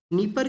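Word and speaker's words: Dnieper: पे जिसको कि बेसिकली नीपर के नाम से जाना करते हैं। जिसको जिसका जो डी है वो साइलेंट रहेगा।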